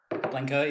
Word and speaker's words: Blencowe: How do you pronounce it? Blencowe, yep, second one.